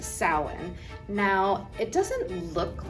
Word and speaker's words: Samhain: But it's a Celtic word, and it is actually pronounced Samhain, in Ireland anyway.